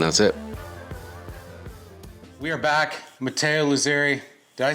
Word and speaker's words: Matteo Luzzeri: Okay, so my name is Matteo Luzzeri.